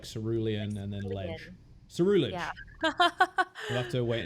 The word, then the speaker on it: Ceruledge: Like Cerulean, so like Cerulege. Ceruledge. Yeah, Ceruledge makes the most sense. I think you're right. Yeah, I think like Cerulean and then Ledge. Cerulege.